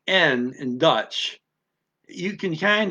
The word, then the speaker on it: en: Okay, een. Excuse me, I mispronounced that. N, not een. N means and. Like I'm going to say and, but I'm putting the D off, so it's just and.